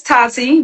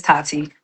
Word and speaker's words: Taty: You're Miss Tatty, right? Is that how I pronouncing it? Yeah. Yeah, it's Tati, but you can say Tat or Tabby. But yeah, it's Miss Tati.